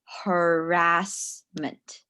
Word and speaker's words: harassment: with some pronunciation um when we say sexual harassment it's harassment sexual harassment yeah you can